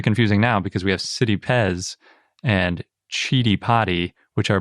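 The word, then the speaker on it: Citipes: lord and that's from a sanskrit terminology whereas city pez comes from a latin terminology so it's kind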